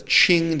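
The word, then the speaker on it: Qing: and again is that the Ching dynasty this is Cheng spelled with a q qi ng the Ching dynasty period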